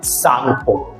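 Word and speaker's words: Tsangpo: क्या कर सकते हैं, इसमें टी जो है बेटा वो साइलेंट होता है एंड SANGPO, सांगपो इज the spelling of इट, ठीक है। तो टी सांगपो नहीं बोलेंगे हम इसको, टी साइलेंट सांगपो बोलेंगे।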